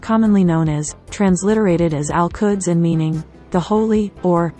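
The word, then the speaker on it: القدس: In Arabic, Jerusalem is most commonly known as, transliterated as Al-Quds and meaning, the holy, or, the holy sanctuary. It is pronounced, il-u-ds, in Palestinian Arabic.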